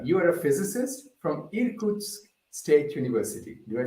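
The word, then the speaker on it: Irkutsk: audience so Ilya you are a physicist from irkut's State University do I say it correctly yeah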